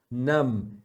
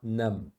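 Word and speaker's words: numb: você deve fazer isso nam significa adormecido sabe quando sua mão tá dormente seu braço tá dorment está num esse b não fala Luck é sorte Rust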